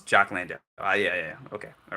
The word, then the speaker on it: Jock Landale: Australia's made a substitution for I want to pronounce this brother's name right, so Landale Jock. I hope his name is Jock Landale. Yeah. Okay. All right. There we go. Jock Landale.